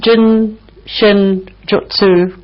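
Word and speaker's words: Jin Shin Jyutsu: Have I pronounced Jinshin Jutsu correctly?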